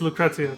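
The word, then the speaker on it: Lucrecia: how to pronounce this Lucretia or Lucrezia I think it's Lucrezia that's right I remember from thirds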